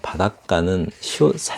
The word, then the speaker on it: 바닷가: 바닷가는 사이시옷이 들어가죠. 이렇게. 바닷가, 이렇게. 가로 발음되면, 여기 뒤에 이 가에서 첫 소리가, 된 소리가 나면 앞에 사이시옷이 들어갑니다.